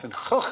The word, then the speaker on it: Van Gogh: Thanks to our friends from the Dutch version of QI, we were able to give you the correct pronunciation of Van Gogh, the great man's name.